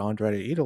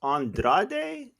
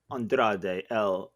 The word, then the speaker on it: Andrade: wait a minute let's let's pronounce his name properly so it's andrade the idol andrade yes andrade okay actually actually actually i